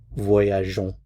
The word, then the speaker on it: voyageons: So, in order to avoid that sound, we add in an e before we add the o n s. So, that's to preserve the je sound. So, nous voyageons.